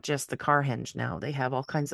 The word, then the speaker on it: Carhenge: and astronomy um yeah when I first saw it I was thinking carhenge I'm saying that doesn't look like it's spelled right but it's it's a car henge car you know just